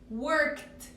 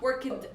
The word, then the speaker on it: worked: So when I add ed, I pronounce it as t sound. Like for example, I say worked, worked, worked. Not work it.